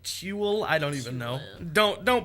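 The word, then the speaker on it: Tuel: And it is Jeff Toole, spelled like fuel but with a T. Yeah. So like Toole, I don't even know.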